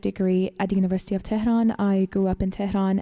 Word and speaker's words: Tehran: Wait, how do you say it? Tehran. Tehran. Tehran. Yeah, Tehran.